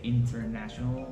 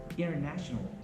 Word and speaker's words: international: Most people would say international, that would be okay. But if you like to sound better or sound American, you would say international. International, Internet. internet. That's how easy the silent T is.